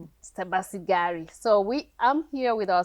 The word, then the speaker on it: Sebasigari: Oh, it's Sebasigari. Sebasigari. Sebasigari. So I'm here with our special guest, Sebasigari, and she is just sharing with us her